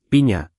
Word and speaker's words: piña: Y piña tiene esa ñ, como en España, piña, más o menos así.